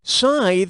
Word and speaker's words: scythe: With which of these words does this word rhyme? Bittera, lethy, tithe, or wrath cate? Scythe rhymes with tithe, but I still like